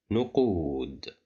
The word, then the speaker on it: نقود: Here we have the letter qaf controlled by Dhamma and followed by wow, so that's why we'll pronounce it as qu. نقود.